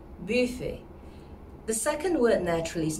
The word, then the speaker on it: Buffet: first word is not buffet actually it has a u sound in it more than a ooh so it's actually buffet buffet the second word naturally